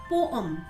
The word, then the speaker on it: poem: But friends, its standard pronunciation is poem. It's poem.